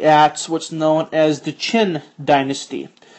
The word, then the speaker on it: Qin: what's known as the Chin Dynasty it is spelled q i n but it's pronounced chin and if that doesn't